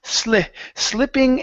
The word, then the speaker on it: slipping: Now give me a short I. If not, it means sleeping. So we don't want to say sleeping. It's slipping and falling.